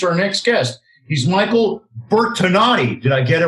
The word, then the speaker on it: Bertonatti: He's Michael Bertonatti. Did I get it right? Bertonatti, yes. It's Italian. I'm close. That's the North Miami Beach pronunciation.